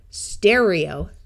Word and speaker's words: stereo: ER usually says but in this case it will say air, stereo.